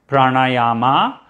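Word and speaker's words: प्राणायाम: have some important word see there are four a's here okay so pra na ya ma not pranayama okay not pranayama again this is something i've heard a lot of non-indians say pranayama but it is not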